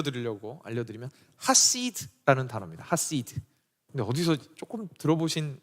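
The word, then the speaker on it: חסיד: 단어는 제가 원래 히브리어 잘 안 하지만 그냥 발음을 일부러 들려 드리려고 알려 드리면 하시라는 단어입니다. 하시드 근데 어디서 조금 들어보신 것 같죠?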